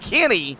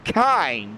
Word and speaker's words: Kinney: frank's 35th robert kinney it is actually pronounced kenny not kind so kenny they're in 36 joshua